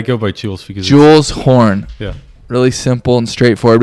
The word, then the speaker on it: Horn: Horn. Horn. Yeah, like the horn.